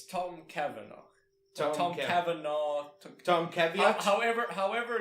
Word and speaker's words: Cavanagh: It's Tom Cavanagh. Tom Cavanagh. Tom Caveat? However you pronounce his Caveat?